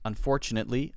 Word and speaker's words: unfortunately: Ahmed says, how should I pronounce unfortunately? Unfortunately. We don't usually say netly. We say net with a stop. Unfortunately. Net. Lee, unfortunately, like that.